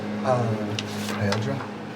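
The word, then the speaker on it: Haeldre: Remind me, how do you pronounce your name? Heldra? Haildra? Heldra. Heldra? Heldre. Hel- I think it is Heldre.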